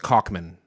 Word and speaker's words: Kaufman: It's pronounced Kaufman.